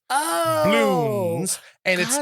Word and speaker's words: Bloons: Is something called Bloons. Can you spell that? Bloons. Bloons. Okay. Bloons. Is it like apostrophe? Is it like doubloons? No, it's like apostrophe as in balloons. Oh. Bloons.